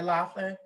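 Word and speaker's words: Loughlin: you all know but recently laurie lofton laurie laughlin is that how you pronounce her name that's that's right lori laughlin now i don't know if you all know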